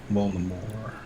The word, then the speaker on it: Voldemort: T at the end because we don't pronounce it in French. Voldemort.